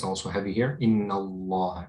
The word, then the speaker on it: Allah: lamb is heavy right the lamb is heavier when you say it Allah you don't say right you say Allah so here the lamb is it's also heavy here in Allah it's similar to um